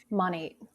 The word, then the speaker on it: Monat: She has a full clientele and recently got into how do I pronounce this? Monate.